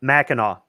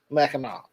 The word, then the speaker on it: Mackinac: It's Mackinac. Mackinac, right. It's spelled two different ways, but it's the Straits of Mackinac, Mackinac Island, Mackinac City, and depending on who writes it out, it's spelled phonetically or it's pronounced differently.